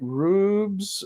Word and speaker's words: Rubes: there's been some communication some people have been referring to him as rabs and I thought I had the name wrong so I actually asked him specifically is it Rubes or rubs and uh he said it's Rubes and it's you it's